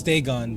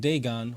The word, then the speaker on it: Dagon: fish God huh theone oh it's Deon damn I said I was saying around this whole time damn oh well I'm not going back and editing all that I'm good but now I'll say it right Deon was the main